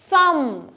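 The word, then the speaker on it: thumb: থাম, বি উচ্চারণ হবে না, থাম থাম।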